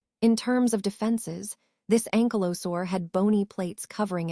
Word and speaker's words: ankylosaur: Now focusing on the NZ ankylosaur, pronounced ankylosaur, the name means fused lizard, which gives us a hint about its body structure.